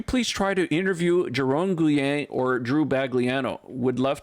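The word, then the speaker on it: Guillen: Guyen.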